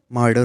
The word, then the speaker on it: martyr: तो जो ये अगला वर्ड है इसका प्रोनाउंसिएशन मार्डर होता है। ठीक है, मार्डर, MARTYR। जो टी है वो डी के जैसे साउंड करता है थोड़ा सा।